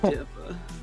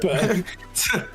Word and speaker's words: Dispa: Oh, Dispa. Oh, don't say it like Dippa.